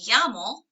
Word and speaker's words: llamo: The answer, the response would be me llamo, and then whatever your name is. Me llamo Bob. Me llamo Daniela. So, ¿Cómo te llamas? Me llamo Daniela. Double L's are Y sounds.